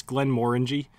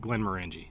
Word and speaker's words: Glenmorangie: signet it was a Glenmorangie signet you know as much even though I know it's Glenmorangie I will probably forever call it Glenmorangie just because I called it that so long I don't know I'd